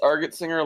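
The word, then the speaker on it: Argentsinger: kind of messed up it's argot singer like the color yes okay yes people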